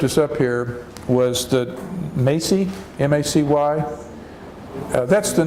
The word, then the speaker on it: Macy's: find a Macy's and it's a long a Maisie Maisie big famous department store